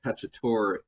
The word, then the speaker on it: cacciatore: As you can see, chicken cacciatore is spelled T-O-R-E on the end.